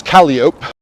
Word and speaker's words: Calliope: france is burgundy uh calliope like the instrument is calliope you know like the